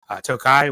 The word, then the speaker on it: Tokaji: an appalation like that was Tokai which is Hungarian uh dessert wine that tastes better than Saturns if you've ever had it it's freaking amazing it's spelled tokaji just grabb it when